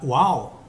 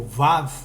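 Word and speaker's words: וָו: A letra, antigamente a pronúncia, né, era Uau, né, que se tornou o Vav de hoje, que é o prego, pregar, ok?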